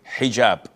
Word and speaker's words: hijab: in hotel or but this is an Arabic word. So we Muslims we have to say hijab.